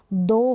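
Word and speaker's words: though: गया हाय हो गया दो हो गया क्या हो गया दो और फाइट तो इन साड़ी स्पेलिंग में आप देख रहे हैं जी हा है और ग का बिल्कुल भी उच्चारण नहीं है अब यहां पर दो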